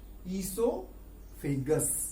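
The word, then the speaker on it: oesophagus: के बारे में नहीं, ईसोफेगस के बारे में, इस पाइप के बारे में। इसका नाम है फूड पाइप, ईसोफेगस। यहां पर ओ साइलेंट है, ओ की आवाज नहीं आती।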